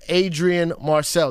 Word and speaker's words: Adrian Marcel: He goes by the name of Adrian Marcel.